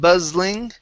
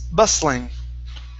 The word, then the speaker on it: bustling: uh the other one instead of buzzling right here it's bus bustling bus bustling okay one